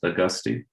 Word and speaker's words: Augustine: you very much doctor is your last name pronounced Augustine I guess say yes okay thank you thank you